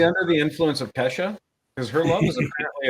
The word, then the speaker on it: Kesha: yeah Roger Justin Bieber and Keisha they had birthdays it's Acacia or Kesha okay Kesha I said it wrong I'm an idiot did